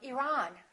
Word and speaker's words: Iran: at the next one did you say Iran or Iran it should be the second one he's from Iran he's from Iran let's look at the